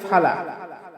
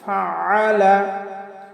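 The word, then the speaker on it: فَعَلَ: আলাম তারা কাইফা ফাআলা, আমরা অনেকে পাঠ করি ফালা, কাইফা ফালা। আসলে ফালা বললে আইনের উচ্চারণটা হয় না, কারণ আইনের উচ্চারণ আমাদের হলকের মধ্যখান থেকে একটু চাপ দিয়ে উচ্চারণ করতে হবে। তাহলে আমরা পাঠ করব ফাআলা ফাআলা।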